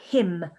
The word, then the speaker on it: hymn: place of worship so him so you can see again that y oh let me go back the y is making the e sound now him is a